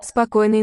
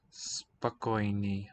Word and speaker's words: спокойной: Спокойной ночи. Спокойной. Спокойной ночи. Okay, it's written oi here, Спокойной. that last syllable, but it sounds like an E when I hear it.